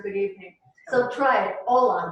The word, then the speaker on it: hola: So try it, hola. The H is silent.